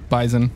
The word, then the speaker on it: bison: he is black bison bison whenever you whenever you not no many people call it bison you know what all those people they're wrong right like half the time